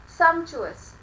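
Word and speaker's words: sumptuous: अब वर्ड आता है very important, put a star, सम्चुअस। सम्चुअस, T silent है।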